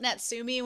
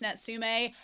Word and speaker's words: Natsume: book of friends or nsum Jen show and I've been told that I've been saying it wrong I call it netsi when it's nsum look y'all if you've